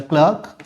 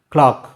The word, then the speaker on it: clerk: and the reporting verb is given here the clerk inquired this is not cler c e r k is not clerk it should be pronounced clock clock usually we pronounce CL l c k clock